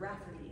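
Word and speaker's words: Raibhairaigh: And as you would expect, that word Rafferty is spelled R-A-I-B-H-A-I-R-A-I-G-H.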